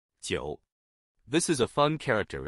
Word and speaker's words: 韭: In today's video, we'll teach you the Chinese character for leek or chives, pronunciation. 九.